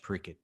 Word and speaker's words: Parikshit: People saying, but isn't it pronounced differently? Like, isn't that an SH sound? But there's a Bengali pronunciation, which is a little easier on the Western ear. That's why we're saying it. Parikshit is the Bengali way to say it.